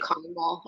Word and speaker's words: Carmel: So We say it Carmel around here.